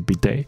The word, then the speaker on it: bidet: 那它的法文原本的发音好像不是这样，但是在北美它的发音就是 bidet。